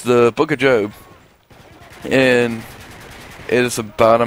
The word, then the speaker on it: Job: it's the Book of Job and it is about a man named job and it's spelled job but it's job so don't call him job cuz he's not job he's job and his story is a